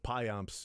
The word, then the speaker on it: pimps: And it also reminded me of how we used to joke around at the Payamps. You pronounce it by saying pimps with a southern accent.